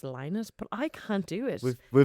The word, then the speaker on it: Lynott: a relative or maybe the daughter of Phil Lynott actually said on the Daily Mirror once that it's pronounced Linus, but I can't do it. We've been Mandela effect. We've been Lynott affected.